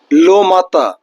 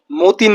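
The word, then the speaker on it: matin: লোমাতা। লো মাতা মানে দা মর্নিং। কেউ আবার এম এ টি আই এন মাতাকে মতিন বইলেন না। এটা লো মাতা।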